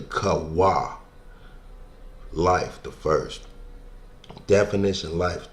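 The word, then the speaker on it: Chavah: Kavah, right? But it's really Kawah.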